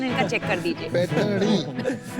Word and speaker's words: पैठणी: स्लोनी पैठणी, वो जरा प्रोनाउंसिएशन इनका चेक कर दीजिए। पैठणी। पैठणी।